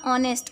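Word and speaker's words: honest: Okay, यहाँ पे ऑनेस्ट, यहाँ पे ऑनेस्ट, एच साइलेंट है, साउंड हमारा ओ है, ओ वॉवेल होता है, ऑनेस्ट ओ बोलते हैं, हो नहीं बोलते, हॉनेस्ट नहीं बोलते हैं, एच साइलेंट है, तो यहाँ पे एन ऑनेस्ट।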